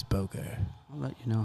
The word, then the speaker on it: Booger: Chris would pronounce that boger. Mate, it's On. it's Booger.